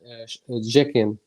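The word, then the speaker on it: Cekin: Okay, his name is Arman Jekin. It's with a C, but it's pronounced J. Oh, It's Arman Jekin.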